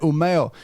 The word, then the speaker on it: Umeå: PNAS, by researchers at Umeå University in Sweden. You got a QS ranking? Give us that pronunciation again. Umeå. Wonderful. U-M-E and then A with two little degrees symbols on top of it.